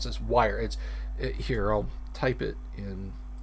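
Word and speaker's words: Wyre: Tales of, and I don't know how to pronounce this, Wire. Here, I'll type it in. W-Y-R-E, Wire.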